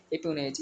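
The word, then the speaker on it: espionage: बोलते हैं हम लोग एपोनेज। स्पेलिंग याद रखेंगे, इसमें SP साइलेंट है, ESP, ठीक है, ESPIONAG।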